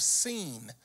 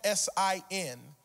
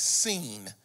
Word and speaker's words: Sin: to the Wilderness of scene it's spelled s-i-n in English for those who may not know you would normally say s-i-n is sin but this is a Hebrew word and that word is seen which is between elim